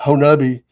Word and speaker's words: Honobia: Let's go see if we can't see one, and we went up to Oklahoma at Honobi, which everybody thinks it's pronounced Honobia, but it's Honobi.